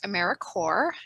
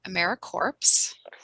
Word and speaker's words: AmeriCorps: all across america and it is pronounced americorps not americorps so what does americorps